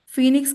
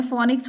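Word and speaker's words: phoenix: चलो chat box में फीनिक्स के तो आप गलत लिख रहे हो स्पेलिंग मैंने फोनिक्स थोड़ा ना बोला था फीनिक्स बोला था पी एच ओ ई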